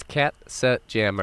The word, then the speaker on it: Katzenjammer: your word is Katzenjammer katpa jim's Katzenjammer so it's cat set jammer epidermis Katzenjammer Katzenjammer I